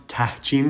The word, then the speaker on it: tahchin: It's tahchin. There's an H in there.